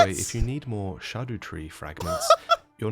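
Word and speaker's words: Scadutree: means shade or Shadow so this is a shadow tree and it's pronounced shadu tree or Shadow tree I guess that's fine as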